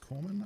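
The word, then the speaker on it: corpsman: supplies weapon military supplies which includes medic or corman right is what medics used to be called it's probably in one army specifically might be like the british name for him it's written like corpsemen but pronounced corman i think the armed core or the marine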